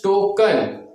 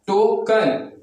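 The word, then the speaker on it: token: उसी तरह से देखिए अंत में क्या ई एन आपको मिल गया, टोकन, क्या होगा, टोकन।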